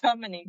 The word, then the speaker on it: Dominique: This is a gruesome story of Ronald DeMarcus. Is it DeMarcus? It's Dominique, my love.